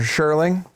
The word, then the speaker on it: Scherling: Sherling. Spell am I pronouncing that right?